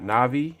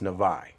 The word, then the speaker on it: Navi: And the way you say my name is not Navi, it's Navi.